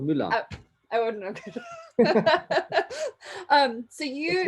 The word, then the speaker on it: Müller: your last name uh it's an umlaut as you know it's called mullah i wouldn't um so